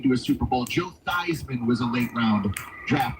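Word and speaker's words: Theismann: Joe Thyman was a late round draft pick. names rhyme that rhymes with Heisman.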